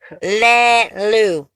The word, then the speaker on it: Lulu: I think that's. Lulu. Lulu! I do not say. How do you say your name? Lulu.